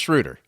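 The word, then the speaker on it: Schröder: no a.d no shrew schroeder schroeder right it's schrooter that's how you say it schroeder schroeder i don't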